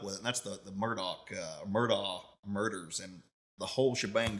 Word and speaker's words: Murdaugh: It's spelled Murdaugh, but you pronounce it Murdaugh, like Murdock, even though it's Murdaugh. So we pronounce it Murdaugh, and it all kind